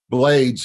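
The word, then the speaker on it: Blaydes: name okay he's like plus it rhymes with his last name blades blades so before we get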